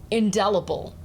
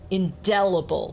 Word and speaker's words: indelible: in that text before indelible indelible the stress is on the second syllable here right del if we